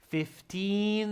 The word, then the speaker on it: fifteen: it's 50 pounds five zero fifty pounds the registration fee is fifty pounds fifteen there's a long e sound there fifteen and this is fifty